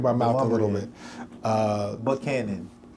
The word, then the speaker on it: Buchanan: Buchanan. Not Buchanan. Yeah, no. Buchanan.